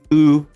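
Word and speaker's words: glögg: And it says, "Glug, pronounced glug, is a traditional Scandinavian mold wine often enjoyed drinking the winter holidays.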